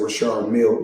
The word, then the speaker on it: Richard Mille: Now, I must let everybody know, because everybody pronounces it different. Some say Richard Mille. Myself, I say Richard Mille, because that's what I was told in 2012 when I first purchased the watch.